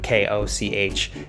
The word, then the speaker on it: Koch: the same last name k-o-c-h and they pronounced it cuck so they were the cox but these are the cokes the cokes the koch